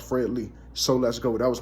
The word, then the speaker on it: Fred L33: If you go look up Fred L33, it's pronounced Fred Lee, So Let's Go.